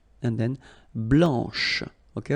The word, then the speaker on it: blanche: So here, masculine, blanc, don't pronounce the final C, and then blanche, okay? Remember when you combine this CH, you get the sound sh, blanche, okay?